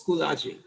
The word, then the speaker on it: Schoology: And there are other lecturers who use Schoology. Okay, that's how it's pronounced, Schoology, yes.